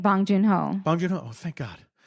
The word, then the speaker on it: Bong Joon-ho: Boon Jong-ho?